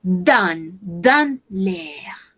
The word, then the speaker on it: dans l'air: La prononciation ici, c'est dans l'air, en el aire.